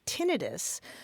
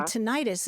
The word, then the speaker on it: tinnitus: Your experience jibes with mine, usually hearing medical professionals say tinnitus rather than tinnitus. I think the rest of us tend to say tinnitus just by analogy with arthritis and tonsillitis.